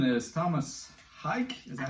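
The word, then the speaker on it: Tomas Haake: So my number 7 is Thomas Hike.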